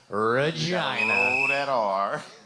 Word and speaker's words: Regina: Canada right played for Saskatchewan which is in Regina Saskatchewan Ripper announced Regina yes so everyone gets that correct that is how they pronounce it Regina oh yeah you do have to roll that